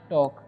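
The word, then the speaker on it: talk: और टॉक, इसे पढ़ते हैं हम टॉक, ठीक है। यहाँ पर एल जो है साइलेंट है, ठीक है।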